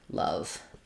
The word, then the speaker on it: love: In the word love, letter O says vowel schwa. So it'd sound more like love.